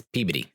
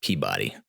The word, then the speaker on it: Peabody: gut if you say it like that it's pey not Peabody so we got the hotel uh pulled up